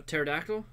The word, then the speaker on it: pterodactyl: A pterodactyl? But it's PT. Yeah, it is. Yeah, it's one of those P is silent words.